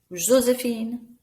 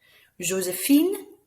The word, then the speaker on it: Joséphine: Joséphine, that E makes us pronounce that N.